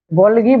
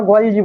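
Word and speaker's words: Golgi: গলগি body, ইংরেজিতে বলা হয় এটাকে গলগি বডি বা গলজি বডি, যে কোনো জি এর উচ্চারণ গ হয়, জ হয়, ঠিক আছে।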